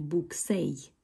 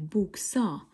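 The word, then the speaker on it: buksa: Вот это I, которая стоит здесь, она уже произносится как букву А в конце. То есть мы не будем говорить буксей, да? Мы будем говорить букса или вместо I шурте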